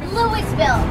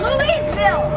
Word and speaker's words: Louisville: the way we didn't start how do you pronounce the city that's home to the Kentucky Derby um Louisville wrong wrong Louisville Louisville wrong that was wrong that was wrong